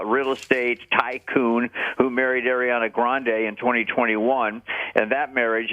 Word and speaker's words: Ariana Grande: By the way, her name is not pronounced Ariana Grande. She's making a big deal now. She wants people to pronounce her name Ariana Grande.